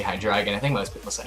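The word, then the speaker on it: Hydreigon: I tend to say hi dragon I think most because I have dragon I think that's the proper pronunciation because of like it's based on like the German word for the number three anyway hi dragon here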